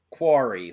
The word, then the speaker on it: Quarry: cory like corey feldman i've been saying it wrong this whole time yeah quarry like quartz uh with logan marshall